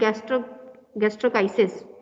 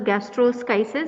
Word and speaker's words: gastroschisis: Now today we will see exemphalous major, minor and gastrochisis. It is not pronounced as gastroschisis, it is gastrochisis. S is silent in this.